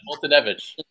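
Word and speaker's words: Foltynewicz: And I can never pronounce that dude's name. The dude begins with Fultonevich. Yeah, that's it. Fultonevich.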